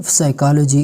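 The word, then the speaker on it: psychology: इसका आवाज साइलेंट है और यहां पे पी का है यह भी इसका भी आवाज साइलेंट है तो इस क्यों साइलेंट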